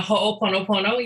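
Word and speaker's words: Hoʻoponopono: And of course, I know all about this word that I can't pronounce, Ho'oponopono. Yeah, Ho'oponopono.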